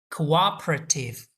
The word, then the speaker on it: cooperative: SDR 不能推迟在这些方面的变化和改革，那也就是说 SDR 应该优先用于这些事项。下面一个词 cooperative 这个词的发音比较特殊， CO 发音是 co 是双元音 u，后面的第二个字母 o 发的是 a，因此 u a 这三个元音在一起可以连读，读作 cooperative。